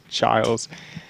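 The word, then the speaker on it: Chiles: the region play uh Childs Florida spelled like Chili's but it's Childs uh they won that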